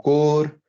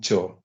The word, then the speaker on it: chore: So chore, sometimes core, sometimes shore, and I'm really I think the correct pronunciation of this word is home chore. CHAW. There's no R sound at all, right?